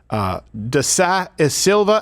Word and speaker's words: da Silva: And it was between this congresswoman and Professor da Silva. How do I pronounce that name?